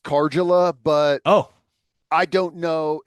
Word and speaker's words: Karjala: Yeah, I know someone with the last name and it's pronounced Karjala, but Oh, I don't know if that's unique to is their it spelled family.